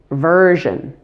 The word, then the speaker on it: version: Number 8, version. Version has 2 syllables with stress on the first part.